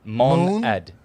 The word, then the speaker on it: monad: do you spell that moan like the moon mono with an a d on the end of it mon add like m o o